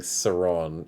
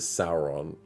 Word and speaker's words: Sauron: than see your name i'm just used to saying saron instead of sauron so that's why i have that problem but it's but sauron the all-seeing eye should be pronounced that way as far as i know but there's just someone